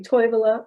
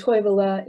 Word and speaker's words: Toivola: they'll hear those sounds another feature is the stress first syllable uh the town toevala people might say toivola or toivola and toivala is a finnish word uh finnish stress is the first syllable of every word english we stress the